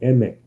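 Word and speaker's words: Aimer: good like for example emme which is spelled a-i-m-e-r because it's a french word her she has this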